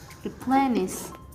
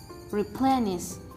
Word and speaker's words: replenish: the 18th world is replenished the politics of this world is replenish replenish the stress is located on the second syllable and the meaning of